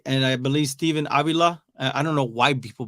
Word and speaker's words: Avila: It's Avila. It's not Avila. It's not I've heard it butchered so many times. I've heard Avila. No, it's Avila.